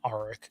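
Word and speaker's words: Arryk: Yeah, the one with the A in the show, I believe they're pronouncing Arik.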